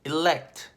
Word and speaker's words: elect: elect, E-L-E-C-T, elect.